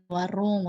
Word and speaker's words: warung: Jadi ini tuh ya, Minasang, huruf N ini, kalau N-nya di akhir, itu biasanya dibacanya sebagai eng, jadi ini tuh warung gitu, warung. Jadi bukan warun gitu ya.